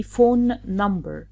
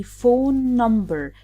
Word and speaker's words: phone number: We don't say phone number. No, we say phone number, as if we cross out the first N and extend a little bit the second N.